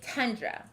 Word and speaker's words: tundra: word the word is tundra this word ends with a but it sounds like a that's the sneaky schwa sound does tundra begin or